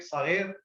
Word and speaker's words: صغير: You know how to say it in in Judeo-Arabic, صغير, صغير. صغير. You know, it's instead of side, it's a za. Like in Hebrew, Zair, it's very small.